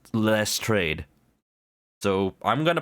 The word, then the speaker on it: Lestrade: It uses re in both the beginning and the middle, so it's less trade.